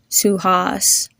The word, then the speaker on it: Suhas: The A has a ah sound to it, as in car, and the U has a double O sound. Repeat after me. Suhas.